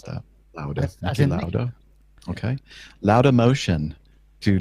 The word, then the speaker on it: Lauda: How would you pronounce that? Lauda.